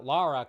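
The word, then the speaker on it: Lara: looking for our new Laura Croft even though uh laara Croft I should say say it right but I wish I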